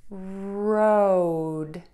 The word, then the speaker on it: road: And then you're going to go ahead and end with the D by touching the tip of your tongue to the back of your top front teeth. Super key to make sure you do that so the word sounds correct.